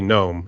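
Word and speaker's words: Noem: knew actually yeah your Governor is uh Christy gnome is that how you pronounce your name yeah that's how you pronounce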